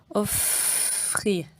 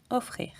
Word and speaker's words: offrir: On ne dit pas offrir, non, offrir.